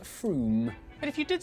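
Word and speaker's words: Frome: on your train from wrong it's not from f-r-o-m-e it should be blitheringly obvious it's pronounced froome but if you did say from don't worry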